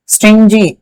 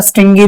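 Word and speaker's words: stingy: अंदर दया नहीं है स्टिजी स्टिंजी या स्टिंगी प्रोनाउंस करते हैं इसको कंजूस यह तो मेरे ख्याल से गलत दे दिया।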